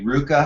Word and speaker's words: RVCA: Here's Christian Fletcher jumping in the hot tub at the Ruka House, or RVCA is how it's spelled.